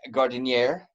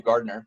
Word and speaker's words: Gardinier: Well, we're welcoming in Bree Gardinier. Did I say it right for the first time? Yes. I did. I've always called you Gardner for the longest time, Mhm.